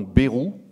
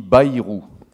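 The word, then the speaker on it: Bayrou: qu'on a remarqué c'est qu'une partie des Français prononce votre nom berou une autre partie dit Baou alors ici il n'est plus question de droite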